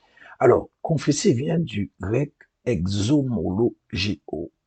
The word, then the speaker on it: exomologeo: Alors, confesser vient du grec exomologeo. Désolé pour la prononciation, mais ça s'écrit X-O-M-O-L-O-G-E-O. Il y a beaucoup de O, bien sûr.